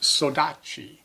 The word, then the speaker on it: saudade: The Portuguese word, which is spelled saudade, is pronounced saudade.